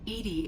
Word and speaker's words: EDI: ajar it's too funny Edie is the phonetic pronunciation of EDI that is an acronym